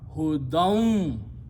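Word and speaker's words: هُدًى: wow in between then you don't pronounce noon but you pronounce who don't because of the wow if you stop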